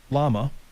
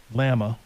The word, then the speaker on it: Llama: But the language model for Meta will be called Llama, or Llama, L-L-A-M-A. How would you pronounce that? I would say that's Llama. I'll go with Llama.